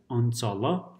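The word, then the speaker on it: अंचल: So, Anchala, Anchala, it's written with a dot, but it's pronounced as Anchala.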